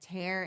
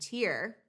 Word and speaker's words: tear: quirky idioms, or even homographs like tear and tear, they're spelled the same, T E A R, right? Tear can be something dripping down your face from your eye when you cry, or tear when you tear a piece of paper.